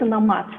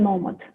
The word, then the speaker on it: nomad: If we're speaking Kazakh or Russian, then it's nomád, right? But foreigners say nómad. Digital nómad.